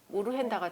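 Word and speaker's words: Urgenda: 그래서 굉장히 중요한 판결이고 이 우르헨다라는 거는 어전트하고 아젠다를 합친 말이에요. 근데 그거를 네덜란드식으로 발음하면 우르헨다가 되나 봐요.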